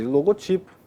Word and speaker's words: logotipo: Há vocábulos que admitem mais de uma pronúncia, porém sem que lhes altere o sentido. Então, por exemplo, ó, logótipo. Logótipo é muito ruim de falar, né? Né? logótipo, mas pode logotipo não, o logotipo é o mais comum.